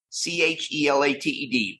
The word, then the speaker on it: chelated: It's spelled c h e l a t e d, but pronounced chelated.